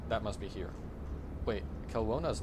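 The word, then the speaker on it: Kelowna: Um, it's pron pronounced kona.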